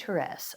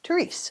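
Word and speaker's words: Thérèse: The correct way of pronouncing our next saint is Saint Therese of Lisieux. However, I had a childhood friend who was named after Saint Therese, but I knew her as Therese, so I'm going to use the pronunciation Therese.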